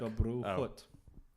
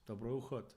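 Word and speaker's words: Dobrou chuť: Dobru chut. I knew you were going to ask me. Dobru chut.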